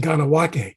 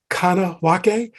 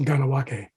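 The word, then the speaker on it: Kahnawake: dating from the 17th century that is called Ganawake, spelled like Kanawake, but pronounced Ganawake.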